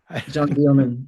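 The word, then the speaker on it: Jeanne Dielman: But anyway, the last movie I wanted to chat a little bit with you about is I can't pronounce this pron Janine or Jean John Deman.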